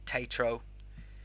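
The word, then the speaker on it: Taetro: that so here's tatro here is his channel taitro so you spell it t-a-e-t-r-o it's he's got a great channel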